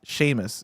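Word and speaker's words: Seumas: Uh, we have one from Onion Ducky who writes in and says, um, Sheamus is pronounced Sheamus. So that's s eu mas. Uh, it's pronounced Sheamus.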